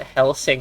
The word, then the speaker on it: Hellsing: so everybody knows what Hellsing is you helzing is probably the proper way to say it well no it's hell sing No spacing it's one